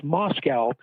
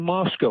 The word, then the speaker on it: Moscow: Indianapolis tell me repeatedly there are no cows in Moscow which pronounced at least